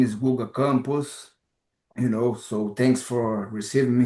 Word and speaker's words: Guga Campos: Like my name is Guga Campos, so thanks for receiving me here.